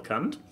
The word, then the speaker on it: Kant: No, but there's actually one that resonates well with me, which would be Immanuel Kant.